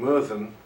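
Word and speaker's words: Myrddin: to non- Welsh speakers the Welsh name meran which is spelled with two DS the the sound is is a double d m is a bit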